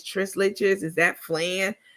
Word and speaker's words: flan: Every time she goes out, she doesn't either know how to pronounce something on the menu, or she's asking, like she asked what she called it flan. What's flan?